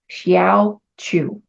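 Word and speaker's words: Hsiao Ch'u: The I Ching name for gate 9 is Xiao Chu. That's a mouthful. It's spelled HSIAO is the first word. And the second word is CH apostrophe U. Xiao Chu.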